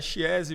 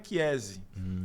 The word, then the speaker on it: Chiesi: A pronúncia brasileira é Chiesi, mas o nome correto vem de família italiana. Então o CH italiano se pronuncia com som de Q. Então a pronúncia em italiano é Chiesi. Mas Chiesi tá aceito.